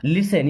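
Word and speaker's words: listen: मीस होता है कृपया एंड लिसन इस वर्ड में टी साइलेंट लिसन मस सुनो टू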